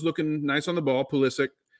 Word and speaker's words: Pulisic: And every time I looked up, it looked like Pulisic was looking nice on the ball. Pulisic. Sorry, I didn't mean to give the Premier League announcer pronunciation there of our American boy.